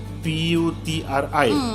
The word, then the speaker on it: Puteri: Tapi selalunya macam kamu P-U-T-R-I, betul lah kan? Selalu kat Malaysia ni dia P-U-T-E-R-I, dia Puteri macam tu. Kebanyakan tapi bacanya Putri lah. Putri macam tu lah.